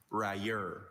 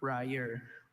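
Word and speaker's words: railer: Ryer. Ryer.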